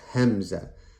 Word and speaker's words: Hamza: Now, when we say Hamza, keep in mind that if you were to spell it out in English, it would start with the letter H. It's Hamza, Hamza, but the sound it makes is eh.